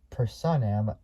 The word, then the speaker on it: Personam: sold Lamborghini's um at personam uh which is spelled p RS o n a so it's like person and then am at the end uh division will be